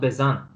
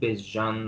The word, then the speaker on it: Bezan: So it's pronounced Bezan, Yeah, because the way it's written on the bracket is I would read Bezjan or something like this.